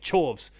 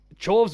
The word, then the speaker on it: Chorves: Chorves was at least memorable because it was derivative of a core word and it was actually pronounced chorus, so like you could remember it.